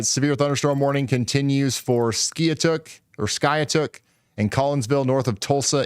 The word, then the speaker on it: Skiatook: It's pronounced Skiatook.